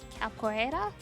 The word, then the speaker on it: capoeira: You're learning, oh, what is it, capoeira?